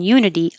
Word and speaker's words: unity: uh and this case the U in unity looks like a vowel it looks like a u but it actually sounds like a y so your tongue is starting in the Y position U and that's a